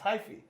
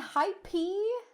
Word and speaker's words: hyphy: It's hyphy. Wait, hyphy? Yes. Hyphy. Shouldn't it be hypey? It's hyphy.